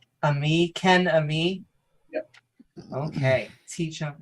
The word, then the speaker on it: Ammi: Um, is it how is your last name pronounced? Ami. Ami.